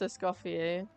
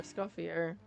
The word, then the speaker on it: Escoffier: Okay, I know that it's pronounced Essuffier, but I'm going to call her Escuffier.